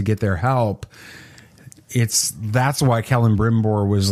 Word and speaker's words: Celebrimbor: Yes, that's Celebrimbor. How's that pronounced? Celebrimbor. Okay, I got it pretty close.